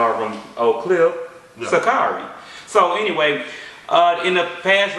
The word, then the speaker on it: Sha'Carri: Some people pronounce it Sha'Carri. I know her from Oak Cliff. Yeah. Sha'Carri.